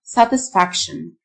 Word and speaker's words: satisfaction: رضا أو قناعة satisfaction. T-I-O-N تنطق شن.